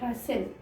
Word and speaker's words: rustle: Here T is silent, rustle.